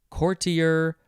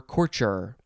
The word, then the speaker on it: courtier: word it is courtier you could say courtier courtier or corcher it is a noun